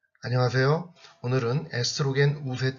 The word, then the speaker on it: 에스트로겐: 이력 얼음 5 놈은 에스트로겐과 프로게스테론이 라는 것이 있는데 에스트로겐은 독일식 발음 그런 에스트로겐 영어로는 에스트로젠 이라고 하기도 합니다 그래서 대표적인 여성 호르몬